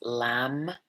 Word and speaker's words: Lam: The sound is Lam, L-A-M.